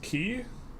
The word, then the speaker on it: Quay: By the way, Quay is pronounced key.